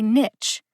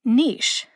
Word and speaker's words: niche: Some people say niche. In this case, niche rhymes with itch. Others say niche, and in this case, niche rhymes with quiche.